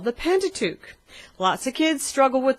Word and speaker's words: Pentateuch: and they're called the pentateuch lots of kids struggle with the word pentateuch so we always say pentateuch rhymes with luke helps them to remember the correct pronunciation so we've got those